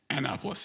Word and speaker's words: Annapolis: Annapolis, yeah. Annapolis. Oh, it's spelled Annapolis.